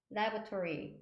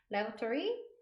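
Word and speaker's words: lavatory: 하지만 기내에 있는 화장실은 laboratory, laboratory 이렇게 발음하시면 돼요. 제가 이거 사진은 기내에 있는 사진을 못 찾아가지고 그냥 화장실만 붙여놨어요. 그냥 참고하세요. laboratory 3번 발음해 보실게요.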